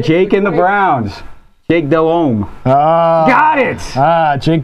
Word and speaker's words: Delhomme: Jake Delhomme. Got it! Jake Delhomme, there you go. Delhomme, and I like St.